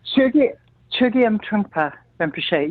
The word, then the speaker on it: Chögyam Trungpa Rinpoche: probably correct me, but I'm pronouncing this as Chögyam Trungpa Rinpoche since the age of 25. Did I get that right, Melissa, or how do we pronounce that? Chögyam Trungpa Rinpoche.